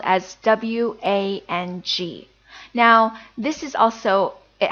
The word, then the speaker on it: Wang: common Chinese surname, and I know many foreigners will pronounce it as Wang, but actually now we know that it should be pronounced as Wang, Wang.